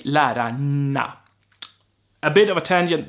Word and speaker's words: lärarna: But if I want to stress a word, it's normal that I would pronounce every letter as a Swede. So lärarna is how I say it when I want to be clear. However, we don't talk like that. We say lärarna.